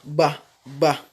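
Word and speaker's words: ب: La lettre Ba, elle se prononce en joignant les lèvres, tout simplement, comme nous le voyons sur le schéma. Techniquement, ça donne Ba, Ba.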